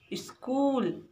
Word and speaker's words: स्कूल: तो बच्चों, यहाँ पे आधा सा है इसलिए इसे इस पढ़ेंगे। और का में बड़ा ऊ की मात्रा है कु ला, तो इसका सही उच्चारण होगा स्कूल।